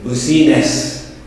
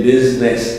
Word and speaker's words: business: is silent nobody says busyness they say business the eye is kept silent so when are when